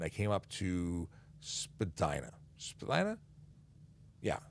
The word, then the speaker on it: Spadina: came up to spadina spilena yeah spadina also actually properly pronounced spadina who knew so i